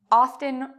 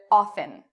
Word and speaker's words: often: history of this word originally in the 1700s often was pronounced with a t and then they stopped pronouncing it with a t they pronounced it often and then people started